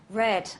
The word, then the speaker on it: read: have the word re you have the verb read and then the past simple it's the same spelling but the different pronunciation so here we have read and here we have red like the color okay same with the